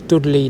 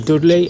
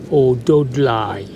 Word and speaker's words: Dudley: I can assure you right now that it has never been pronounced Dougl.